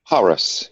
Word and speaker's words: Hauras: You have, I'm not sure how to pronounce this, but it's called Hauras or Hauras? Hauras, yeah.